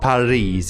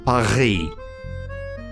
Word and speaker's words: Paris: So, the French R is not pronounced R or R like in Spanish. No, it's like, that letter is called the R. R. That is the French R. It's not Paris, it's Paris.